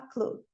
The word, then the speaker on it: clue: But they haven't got a clue. O E final não pronuncia. Clue. Só o clue.